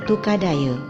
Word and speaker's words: Tukadaya: Dari kedua di atas dapat ditarik suatu kesimpulan, nama Tukadaye berasal dari kata tukad dan aye, lama-kelamaan lafal pengucapan berubah menjadi Tukadaye.